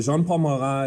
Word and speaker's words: Jean-Paul Marat: jean-paul mcgah he's like a french name so jean-paul mara is this editor of a paper and he calls for all kings all the king's supporters to be killed all right he's this you know jean-paul marat is this guy who was kind of this